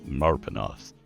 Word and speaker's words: Marpenoth: But everybody uses his calendar, and there is a month in it that is Marpenoth. You pronounce it Marpenoth.